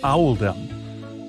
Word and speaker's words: Oldham: made to reflect the pronunciation of Oldham in the local accent which is Owl them accordingly paying respects to